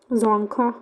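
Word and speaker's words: Dzongkha: जखा B silent जोखा इट इज़ the official language of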